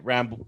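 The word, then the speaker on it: Rambeau: can't even pronounce it is it rambo is that what they keep saying is her name rambo yeah ramble yeah yeah it's not it's not spelt that way but it sounds like that's what they're saying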